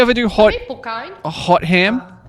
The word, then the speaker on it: Hotham: a hot ham, like a roast ham, like hot ham. like a cooked ham? Yeah, or like a turkey. It's pronounced Hotham. Hot them.